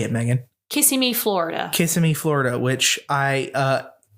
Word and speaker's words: Kissimmee: Kissimmee, Florida.